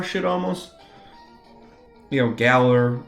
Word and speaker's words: Galar: in a weird way galar should almost you know Galler I guess if you want to use the correct pronunciation um with the UK basis is so comfortable to